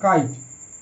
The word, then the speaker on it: kite: একই রকম কাইট, KITE কাইট, এখানেও আই এর মতো উচ্চারণ হচ্ছে কাই, TE ট, কারণ ই সাইলেন্ট থাকবে, সেটা হচ্ছে কাইট।